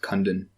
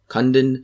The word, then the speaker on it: Kundun: It's pronounced Kundun. Kundun.